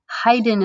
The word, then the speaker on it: Haydn: month and his name is franz joseph haydn haydn is the way you pronounce that name and he lived from 1732 to 1809.